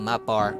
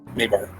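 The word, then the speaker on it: Mabar: A hapless mortal might accidentally stumble into a map bar itself. Maybar. Maybar, thank you. As Apparatus keeps on correcting the pronunciation of the words that the voice in his head is using.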